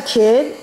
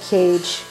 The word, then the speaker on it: Kay: Legend of k um as a kid I used to pronounce this Legend of cage but no it's Legend of k k so um Legend of